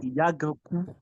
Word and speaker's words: Iyaganku: That's actually the correct pronunciation. Iyaganku.